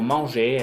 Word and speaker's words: manger: Sin embargo, la gran mayoría de las palabras que terminan en ER no se pronuncia la R. La R no se va a pronunciar. Siempre que vean una palabra con ER, pronúncienla como E.